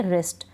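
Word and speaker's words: wrest: होगा इसको हम पढ़ेंगे रेस्ट डब्लू आर से शुरू हो शुरू हो रहा है हम डब्लू का उच्चारण नहीं करेंगे रंग तो यह नियम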